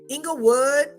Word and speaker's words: Inglewood: I hung out in Inglewood Englewood that's how we used to say it when we drive through Inglewood you have to say it like that anything with wood you